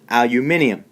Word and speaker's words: aluminium: pronounce it aluminum but if you meet a British person they will say aluminium all right and finally